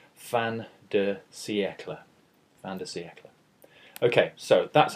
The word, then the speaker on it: fin de siècle: here I've written it out as it sounds fan DEA fantasy eeka okay so that's how we pronounce it but what does fantasy eeka refer